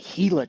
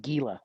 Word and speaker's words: Gila: So our second trail is the Gila Trail. Kind of looks like Gila, but it is pronounced Gila.